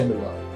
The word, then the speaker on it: Billore: अब मिस्टर बिल्लोरे चाय के ठेले का तो नाम रख दिया BILLORE, यानी बिल्लोरे की जो स्पेलिंग है ना बिलियनर से मैच होती है। लोग बिल्लेनर बोलते थे, कोई बिल्लो रानी बोलता था।